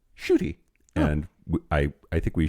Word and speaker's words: Ncuti: that matter um so I I was saying NTI or NTI cuz that's what it looks like cuz it's ncuti but that's apparently pronounced shoy and I I think we shoy call people